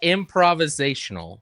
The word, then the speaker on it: improvisational: Looking at all these graphics on screen and seeing his pure physical talent and improvisational skills. No, that was still wrong. It's improvisational. Improvisational. We got 6 syllables in there.